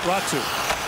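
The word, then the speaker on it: Räty: Ratu back with it. You may notice how it's spelled, R-A-T-Y. In Finnish, it's pronounced Ratu.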